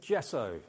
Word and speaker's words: gesso: okay so this is the G so good gesso say it like that g good I actually